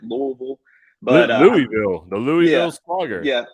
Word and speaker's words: Louisville: just so you know you got to swallow your tongue when you say it louisville but louisville the louisiana